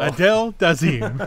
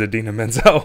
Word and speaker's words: Idina Menzel: Adele Dazeem.